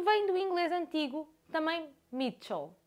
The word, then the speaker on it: Michel: do inglês antigo também Mitchell ch em inglês antigo terá a pronúncia de T como em Church Mitchell será algo Então